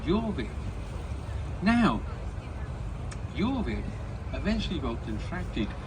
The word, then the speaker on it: Jorvik: And in their heavenly accent, they pronounced it Jorvik.